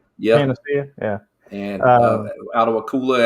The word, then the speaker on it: Panacea: Panacea? Yeah. Panacea.